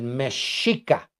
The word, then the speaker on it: mexica: Y el mexicanos viene del mexica. En ese entonces, la X se pronunciaba como sh, como SH.